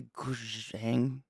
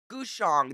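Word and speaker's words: guzheng: The goujang? Goujang? I think I'm saying it wrong again. We learned yesterday, I can't remember now. Gushong, that was it.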